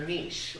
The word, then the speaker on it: niche: But today we're here to talk about finding your niche, or niche, but I'm going to call it niche because I'm pretty sure that's a proper pronunciation. At least for now. The dictionary might change its mind in 5 years, because we all say niche anyway.